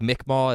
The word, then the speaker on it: Mi'kmaq: That's because I'm going to be doing some tribe names, and I have pronunciation because like Mi'kmaq is spelled M-I, what is that, hyphen K-M-A-Q.